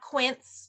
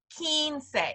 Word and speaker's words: quince: 15 in Spanish so it's not Quince or Queens it's Keen say and this is a